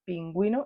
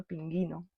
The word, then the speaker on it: pingüino: I tenemos que mirar si la u no tiene puntitos no suena pero si tiene dos puntitos es una forma de